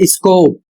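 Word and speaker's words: scope: रहा हूं एस सी ओ टी ई इसका उच्चारण होता है स्कोप और इसका अर्थ होता है क्षेत्र।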